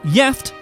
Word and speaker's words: gift: One Swedish word that's about the same as the English is gift, but is pronounced gift and has two separate meanings, the first of which means married.